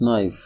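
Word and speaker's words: knife: Please give me this नाइफ। दूसरे जुमले में गिव का ई और नाइफ का के साइलेंट लेटर्स हैं।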